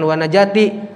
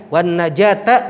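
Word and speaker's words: والنجاة: karotil maut wannajat minannar Bacanya jangan warna Jati jadi maktub tuan najata Min annar masih banyak yang baca warna Jati betul sih betul artinya hanya salah Nahwu shorofnya wannajahta minannar Wal afwa ma'tuh terus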